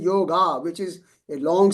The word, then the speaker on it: yoga: In Hindi and in Gujarati, in Hindi, we say yoga. We cannot say yog. It's yoga. Yoga.